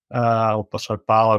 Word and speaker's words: Paulo: Parramatta, Junior Paulo, Barlow, they pronounce it these days, is outs on Origin duty, but also missing 3 of their other starting forwards.